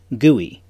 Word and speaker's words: GUI: a graphical user interface or GUI pronounced GUI inside this digital world